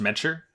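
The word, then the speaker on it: Madchar: h a r so Madar but it's it's pronounced meter from what they say in the show and they're fine I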